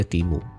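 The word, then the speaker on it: Temu: aplikasi yang viral banget namanya timu t e mu u ya bacanya timu sebuah aplikasi yang sebetulnya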